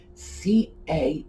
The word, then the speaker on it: cachet: Oh, cachet is spelled C-A-C-H-E-T. It's a French pronunciation, cachet.